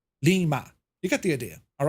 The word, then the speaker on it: Lima: where it says Lima but how do you say it it's Lee Lima you get the idea